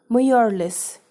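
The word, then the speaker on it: Mjölis: guests until bedtime students this particular word which means card game is pronounced as Morales remember that okay so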